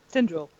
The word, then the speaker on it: Tinderal: Tinderal. Tinderal. Tin.